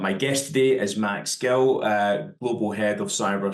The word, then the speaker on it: Gill: declo podcast and my guest today is Max Gill uh Global head of cyber security at bionico EMASS have I pronounced that right Max you have yep perfect and also your surname is it Gil or Jill Gil Gil good good we're in there so